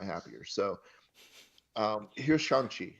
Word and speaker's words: Shang-Chi: The way that Simu Liu pronounces it means sweet smelling air, air that smells good, Shang-Chi. And he's very specific about Shang, pronouncing it that way.